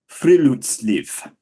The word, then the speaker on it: friluftsliv: Friluftsliv, which Thank literally you.